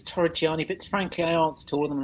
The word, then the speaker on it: Torreggiani: welcome and tori gianni have i pronounced your name right well it's torah gianni but frankly i answered